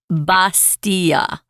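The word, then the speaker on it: bastilla: Yeah, when I read the article, guys, I pronounced it the way they do in Morocco, which is bastia with a B.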